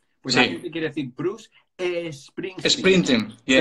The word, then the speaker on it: Bruce Springsteen: aquí te quiere decir Bruce Springsteen. Sprinting, yeah. Pero si coges el sonido Bruce, aunque se acabe con CE, ¿cuál es el sonido? Bruce. Bruce Springsteen.